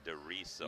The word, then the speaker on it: Dorizo: Hey, uh Diso is pronounced Disso. Yeah, Dorizo. I I said it like that. Do, not Zo.